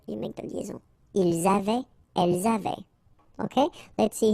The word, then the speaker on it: avaient: Ils avaient, so look here, E-N-T, you write them, you don't pronounce them. So you get phonetically avait, exactly the same thing that we had here, here, and here.